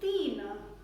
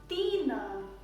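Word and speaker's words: तीन: the next hindi number is 3 3 means tina tina 3 dean t no but there is a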